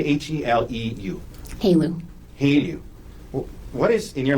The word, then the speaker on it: HALEU: Have you ever heard of the word HELU? How do you say HELEU? HALEU.